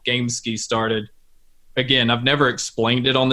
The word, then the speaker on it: Gamesky: A lot of people think that it's Gamesky because it's spelled that way, but it's actually Gamesky, which again, I'll try